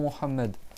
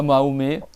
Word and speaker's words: Muhammad: Il faut que tu prononces bien le nom Muhammad. C'est pas Mahomet, c'est pas Mohamed, c'est pas Mahmed ou Mamadou ou ce que tu veux. C'est Muhammad.